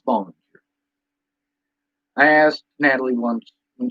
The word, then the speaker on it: Bollinger: With Natalie, a lot of people say it's Bollinger, it's Bollinger. No, it's Bollinger.